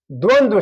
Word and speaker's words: द्वंद्व: अब उदाहरण में है अब जो है ये कह रहा है कि द्वंद द्वंद्व द्वंद्व समास पूरा उच्चारण होगा। द्वंद्व द्वंद्व जैसे हम लोग द्वंद बोलते हैं लेकिन द्वंद होता है।